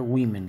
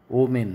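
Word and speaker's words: women: তার প্লুরাল হয় উইমেন, উচ্চারণটা উইমেন কিন্তু ও মেন নয় উইমেন।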